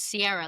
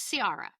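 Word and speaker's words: Ciara: By the way, are you correcting our pronunciation of her name? Yes, I'll tell you why. Because it consistently comes up as Sierra, like Sierra Leon. S I E R R A. Her name is Sara.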